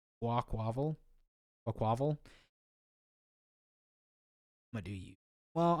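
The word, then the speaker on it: Quaquaval: That looks like you're trying to say aqua, so Quaquavel.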